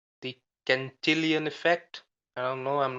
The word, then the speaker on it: Cantillon: Cantillon. Exactly. You want to be close to the money. Yeah, it's spelled C-A-N-T and then illion, like million.